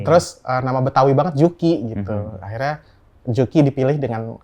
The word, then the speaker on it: Juki: Eh, Yuki, Yuki, Yuki, Yuki. Tapi semua pada benar ngomong juki.